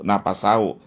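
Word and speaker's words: نَفَسَهُ: li li Suba nafsahu nafasahu bukan nafsahu itu ya keliru tadi napasahu bukan nafsahu ya bacanya tadi keliru napasahu napasnya jadi agar apa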